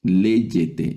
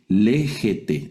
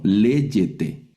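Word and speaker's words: λέγετε: Por ejemplo, la primera la primera palabra aquí a la izquierda, léyete, ya no la leemos como géete, sino léete, que es un un ya una forma verbal de sis, algo del verbo lego, que es hablar o decir.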